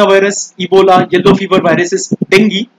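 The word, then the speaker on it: dengue: लेकिन जो इस तरह के हाईली इन्फेक्शियस वायरसेस है, corona virus, Ebola, yellow fever viruses, dinghy, हाँ इसको डेंगी प्रोनाउंस करते हैं, स्वाइन फ्लू और बर्ड फ्लू, ये लोग कर सकते हैं सेप्सिस को ट्रिगर।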